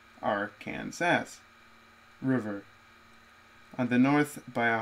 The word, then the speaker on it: Arkansas: south by a brown stretch of the Arkansas's pronounced Arkansas River on the north by a highway route 50